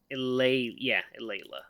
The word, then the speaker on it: Eulalia: Eulalia. That's how you say it.